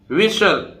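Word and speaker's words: whistle: तो इसको क्या बोलेंगे, विसिल। विसिल, विसिल नहीं है, विसिल, विशल, विशल। STLE को सल, सल बोलेंगे, और ये वी, H साइलेंट रहेगा तो विशल।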